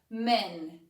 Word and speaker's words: men: Lembrando, dica de pronúncia. Man. Dá um sorrisinho quando você for falar man no singular. Homem. Quando você for falar no plural, fala um pouco mais sério. Men.